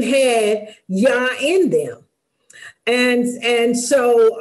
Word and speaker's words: Jah: how the name of yah is composed of the first two letters and it's also translated as J ah which is still pronounced yah and it appears often